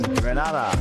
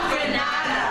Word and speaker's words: Grenada: It's Grenada. It's not Granada. It's Grenada.